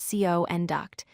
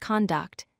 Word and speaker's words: conduct: Finally, the word conduct as a noun is pronounced conduct, meaning the way someone behaves. As a verb, it's pronounced conduct, meaning to lead an orchestra or to guide someone through something.